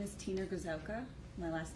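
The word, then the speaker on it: Gryszowka: name for the derbs my name is Tina gazelka my last name is spelled g-r-y-s-z-o-w-k-a and where do you currently work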